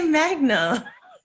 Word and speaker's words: Magna: You just say magna.